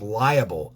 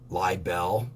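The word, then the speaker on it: libel: newspaper article the defamation constitutes liable l-i-b-e-l i i think i'm saying it wrong i think it's lie bell by bell if communicated verbally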